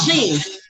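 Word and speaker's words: Xin: them fall under so sheen sheen x i n is short Sheen is Sheen right now for somebody who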